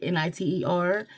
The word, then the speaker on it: nitre: So it's spelled Nitre, but it's spoken in like Niter.